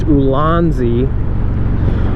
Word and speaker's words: Ulanzi: And it's by a company, I think it's pronounced Ulanzi.